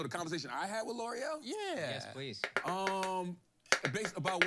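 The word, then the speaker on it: L'Oréal: missing a letter for me Yeah, to pronounce it it's L'Oreal.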